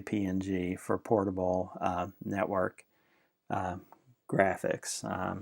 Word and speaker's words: PNG: lot is PNG files some people pronounce that ping but I usually just say PNG for portable Network graphics